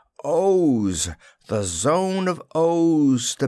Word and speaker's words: Oz: own country he sneered it is not oz as you say it but owes the zone of o's